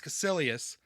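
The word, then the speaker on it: Kaecilius: and then I just I just started saying cissus the whole time but it's cilus uhhuh is the name uh mordo I kept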